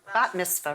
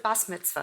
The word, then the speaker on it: bat mitzvah: interesting because I so that's the Ashkenazi pronunciation right what's happened the reason that you say but miss for now is because when Israel came they're really using the Sephardic pronounciation and most of the